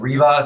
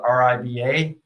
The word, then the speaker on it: RIBA: This is called REBA. Some people call it RIBA, and there's other pronunciations, but I call it REBA.